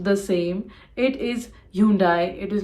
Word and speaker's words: Hyundai: Chevrolet not Chevrolet it is Chevrolet this is pronounced the same it is Hyundai it is not Hyundai or Hyundai it is